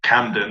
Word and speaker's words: Camden: meets music to camden camden obviously rhymes with mandom and we decided to